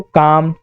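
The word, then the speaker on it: calm: एल में देखिए तो काम, टाक, वॉक, हाफ, कहीं भी एल का उच्चारण किया जा रहा है क्या, नहीं, क्योंकि ये साइलेंट है।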